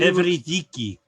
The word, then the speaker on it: Eurydice: started to wander down there, and he saw Eurydice, or Eurydice, of how you say it, and she Evridiki.